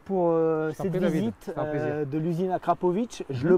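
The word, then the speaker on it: Akrapovič: bon merci Romain pour cette visite de l'usine Akrapovic je le prononce bien maintenant avec parfait ça y est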